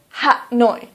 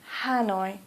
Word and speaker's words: Hanoi: so for example Hanoi please don't say hat no police say Hanoi or for example Calcutta